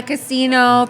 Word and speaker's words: Cousino: everyone will say Cousino from Las Vegas. So I just, like, it's like I said, tomato, but the real pronunciation is Cousino. Cousino. Yeah, Cousino. yeah.